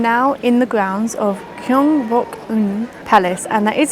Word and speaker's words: Gyeongbokgung: I am now in the grounds of Gyeongbokgung Palace and that is how you pronounce it because I asked the information desk how you pronounce it.